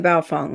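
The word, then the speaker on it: Baofeng: here okay it's only 40 bucks that's the Bao Fung right is that how you say it that's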